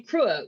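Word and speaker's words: Cruach: Um from Krua would be how you would say it if you were going to say it correctly, but this is the Ozarks, baby. So it's Kuick.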